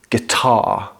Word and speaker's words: guitar: So, in most British accents, including my own, we don't pronounce the R at the end of words. So, this would be guitar So, the vowel is open at the end, and there's no er sound.